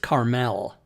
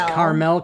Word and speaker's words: Carmel: actually the geographic place is pronounced Carmel. It is It's pronounced Mount- Carmel. It's Carmel, California.